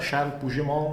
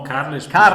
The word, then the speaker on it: Carles Puigdemont: Charles Puigdemont? No, no, Carles Puigdemont. Carles Carles Puigdemont. Puigdemont in catalano.